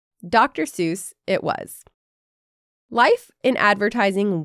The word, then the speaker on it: Seuss: She pronounced it Seuss. She was German, after all. But Seuss was the pronunciation that stuck.